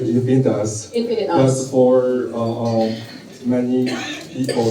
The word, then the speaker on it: InfinitUs: It's for me, I always pronounce it infinitus.